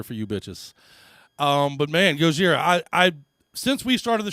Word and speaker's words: Gojira: Originally called Godzilla, that is your Gojira. They changed their name to the Japanese pronunciation before they ever even went into the studio.